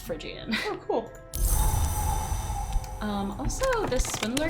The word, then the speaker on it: Phrygian: I did look up Phrygian, and it is pronounced Phrygian.